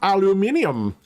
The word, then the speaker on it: aluminium: Why it says, actually, it's pronounced aluminium.